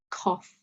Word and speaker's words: cough: Another pronunciation of the O-U-G-H sound is off, so trough and cough. Very quick off sound, so not off, it's cough, trough.